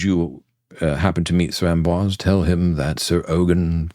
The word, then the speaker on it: Amboise: My word, what did I say about the letter R? And you keep repeating it in every mispronunciation you make. Amboise. A-M-B-O-I-S-E.